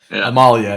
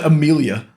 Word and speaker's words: Amalia: pronunciation of cards oh wouldn't that be Amalia yeah good old yeah what did I say you said Amelia like AEL a heart